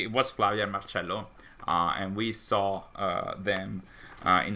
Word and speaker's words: Marcello: All with the proper Italian pronunciation, Marcello.